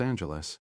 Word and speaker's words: Angeles: She didn't say anything about them coming all the way from Los Angeles. She said Angeles with a hard G.